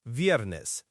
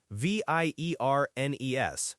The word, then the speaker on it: viernes: That's viernes, V-I-E-R-N-E-S, pronounced miércoles.